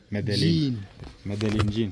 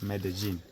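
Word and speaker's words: Medellín: Mede. Not med. It's Mede. Medellin. Jean, no. Okay. Mede. Jean. Medellin.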